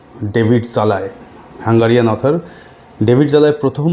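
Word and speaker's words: Szalay: author David জালায় আমি প্রোনাউন্সিয়েশনটা দিয়ে দিচ্ছি আমি প্রোনাউন্সিয়েশন যে একচুয়ালি কি হবে সেটা নিয়ে আমি কনফিউজ ছিলাম তো ডেভিড জালায় হাঙ্গারিয়ান অথর ডেভিড জালায় প্রথম হাঙ্গারিয়ান অথর যিনি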